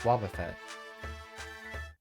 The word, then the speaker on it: Wobbuffet: at the cafe it's yeah we know it's pronounced Wobbuffet what the heck does the name Wobbuffet